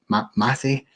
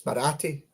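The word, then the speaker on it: Marathe: Um Andrew Cavar and Parag Mati I think is how you say it. Um obviously uh they've had their their 10 p worth as well. Um they had it is it's Morati.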